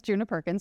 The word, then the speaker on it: Djuna Perkins: So, um, so my name is Juna Perkins. A lot of people wonder about my name. Um, I like to say that my the the D in my name is silent, but I am not.